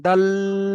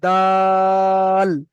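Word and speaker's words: دال: ভুল হচ্ছে বুঝতে পেরেছেন আপনি লটাকে টান করে ফেলছেন দাল এমনভাবে বলছেন বুঝতে বলেছেন আরেকবার বলেন দাল লা ল টা একদম টান দেওয়া যাবে না দা টা টান দিয়ে গিয়ে ল বলতে হবে দাল দাল মাশাল্লাহ এবার একটু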